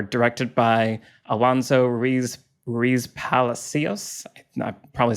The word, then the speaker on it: Palacios: Um the the last three episodes I believe uh are directed by Alonzo Ree Riz Palacios. I'm probably saying his name wrong. Palasios.